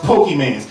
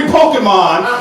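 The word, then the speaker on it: Pokémon: There's no way you actually think it's pronounced Pokemans. You guess the mystery Pokemon every day of the week.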